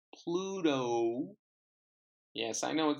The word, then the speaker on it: Pluto: number two Pluto Pluto so it's not Bluto it's Pluto yes I know it